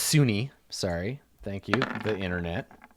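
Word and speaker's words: Sune: It's actually pronounced Sunni.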